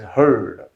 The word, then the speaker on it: heard: of this verb here whenever ea comes usually it's this kind of pronunciation like here or for